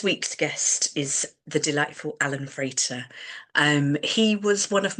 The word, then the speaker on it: Allan Frater: So welcome Alan Frater. Have I pronounced that right?